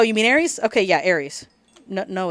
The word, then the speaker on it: Aerith: I'm like oh you mean arias okay yeah Ares no no it's Aerith know it's arias it's Ares it's always gonna